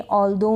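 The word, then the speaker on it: although: और फिर इसमें नेबर में, दो में, ऑल्दो में, दो में, ठीक है, ऑल्दो, दो, और इसको भी दो पढ़ेंगे। इनमें भी क्या है कि GH का उच्चारण नहीं है, क्योंकि I के बाद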